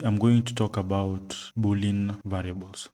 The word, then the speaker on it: Boolean: going to talk about bulling variables I don't know if it's pronounced bulling or Boolean buing pronunciation oh it's Boolean so today I'm going